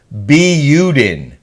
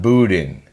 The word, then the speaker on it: Buden: DNI 4753 said, Kelly, Doug's last name is pronounced Buden, not Boudin. Sorry, it drives me crazy when you say Boudin.